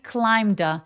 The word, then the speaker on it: climbed: deeply 약간 뿌로 발음하면서 A 소리 또렷하게 deeply deeply so he climbed the mountain 자 he climbed 할 때 clim 할 때이 B는 묵음이에요. 그래서 climbed climed로까지 그냥 발음하시면 되고 climbed 하면서 연음 처리합니다.